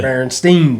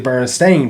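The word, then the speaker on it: Berenstain: So people vividly remember Stein like Einstein.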